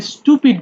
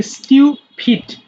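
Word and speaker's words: stupid: আচ্ছা এটা আমরা অনেকেই স্টুপিড বলি তাই না? এটা আসলে হবে স্টিউপিট। স্টিউ স্টিউ ফিট মূর্খ।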